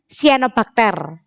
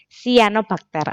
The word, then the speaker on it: sianobakteri: contohnya bisa bakteri dan cyanobacteria atau sel bakteri itu bisa membuat makanannya sendiri seperti itu jadi Monera itu contohnya bisa bakteri atau sianobakteri bacanya sianobakter Ya bukan cyanobacteri bukan tapi sianobakteri Oke lanjut ya Ada